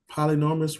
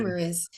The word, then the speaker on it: polyamorous: I don't think I could be in a poly polynormous relationship. I think I'm saying that shit right. I might be saying Polyamorous. polyamorous. Yeah. I know I was Um, saying it wrong, it's but okay.